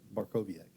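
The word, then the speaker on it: Bartkowiak: It was directed by Andrei Barkoviak. I think I said it right. Barkoviak. Barkoviak, yeah.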